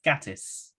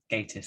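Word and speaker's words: Gatiss: last one is um i think mark gattis gatus status however you want to say it yeah i think it's gators okay i think someone asked him how to pronounce it once on twitter i think his reply was um just think gay i always do which i found very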